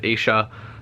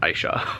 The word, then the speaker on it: Aisha: I looked up how the author pronounces her name, and I know some people pronounce it Aisha, but she pronounces it Aisha.